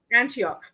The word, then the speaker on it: Antioch: Antioch.